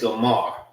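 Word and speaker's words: Gomer: The same way how you say it in Hebrew, it's Gomar. This is Gomar and this is Gomar.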